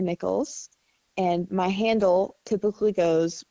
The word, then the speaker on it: Nichols: is spelled like this b i r d i e for birdie and ni i c h o LS for nickels and my handle typically goes birdie nickels 07 um you can